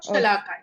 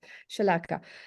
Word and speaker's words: Shalaka: Is it Shalaka? Shalaka, yeah. Shalaka.